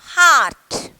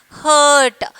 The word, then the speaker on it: heart: Heart. Okay. Don't say hurt. Some are pronouncing that heart pronunciation is heart. Okay. Heart. Okay. Don't pronounce hurt. That is wrong pronunciation of heart.